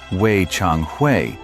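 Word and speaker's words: Wei Changhui: Weii Chong Hui, pronounced Weii Chongi, the northern king.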